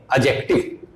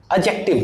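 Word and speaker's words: adjective: जरूरी है वो है अजयक्टिव इसका सही उच्चारण एडजेक्टिव होता है एडजेक्टिव दे साइलेंट दी साइलेंट होता है और एक छोटा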